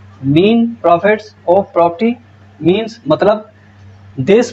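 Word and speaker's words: mesne profits: मीन्स प्रॉफिट of property मीन्स, अब ये मीन है, मीन एस साइलेंट है इसमें, ठीक है जी। मीन प्रॉफिट्स of property मीन्स मतलब this प्रॉफिट which the person in wrongful possession of such a property.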